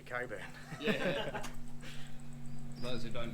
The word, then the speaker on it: Cockburn: Boy, that's like saying that Cockburn is supposed to be Coburn.